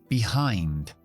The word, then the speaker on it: behind: anímico que también termina en D siguiente palabra behind behind son dos sílabas todo lo que termina en i n